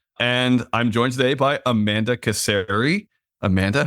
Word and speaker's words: Casari: I'm joining by Amanda ceri Amanda how you doing I'm doing good it's glad to see all of you today the A's in your name it could be casari but it's ceri does anyone ever mess